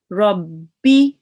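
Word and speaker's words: رَبِّ: So for example, with the sukoon here, you would read this rab. Now we have another ba there and we would be reading it rabbi, rabbi, because there is two bars.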